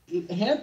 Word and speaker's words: Hamp: Is his name pronounced hemp like the leaf or is it hamp like hamper?